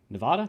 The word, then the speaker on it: Nevada: When Chris Alt ran pistol at Nevada, right? It's Nevada. Nevada. I think I'm supposed to pronounce it Nevada. That's what people from Nevada say.